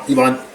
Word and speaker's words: Ivan: And that's Ivan, or Ivan, depending on how you want to pronounce it.